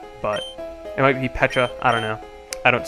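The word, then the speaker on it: Pecha: I am pretty sure it's supposed to be pronounced Pacha because it's like a pun on Peach but it might be Peta I don't know I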